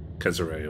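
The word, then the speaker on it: Cesare: Not Caesar, Caesare or something like that, that's how it's pronounced, I think.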